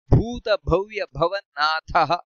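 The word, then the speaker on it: ಭೂತಭವ್ಯಭವನ್ನಾಥಃ: ಕೃತ್ಕಾಂತ ಕಾಮಃ ಕಾಮಪ್ರದ ಪ್ರಭುಹು ಉಚ್ಚಾರಣೆಯಲ್ಲಿ ಸ್ವಲ್ಪ ಗಮನಿಸಬೇಕಾದದ್ದು ಭೂತ ಭವ್ಯ ಭವನಾಥಹ ಇಷ್ಟು ಮಹಾಪ್ರಾಣ ಇದೆ ಇಲ್ಲಿ ನಂತರ ಪವನಃ ಪಾವನೋ ನಲಹ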